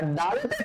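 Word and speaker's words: دال: তো দয়ের উচ্চারণ আপনি যেভাবে করেন দ, আপনি যেভাবে করেন ঠিক সেভাবে উচ্চারণ করবেন ডাল, ঠিক আছে স্যার?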